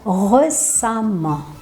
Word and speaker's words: récemment: Só que a pronúncia vai ficar récemment. Récemment. Apesar de ser escrito com E, o som é de um A com o tiozinho.